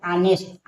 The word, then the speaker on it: honest: HONEST ऑनेस्ट, ऑनेस्ट में देखिए H के बाद O आया है, तो H क्या है, साइलेंट है, ऑनेस्ट।